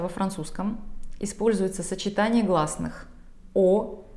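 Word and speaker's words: eau: Оно состоит из 3 букв, но произносится всего одним звуком – О. Буквы Ы, А, Ю, если вы их видите вместе, это никогда не Ы, это О de toilette, О de parfum.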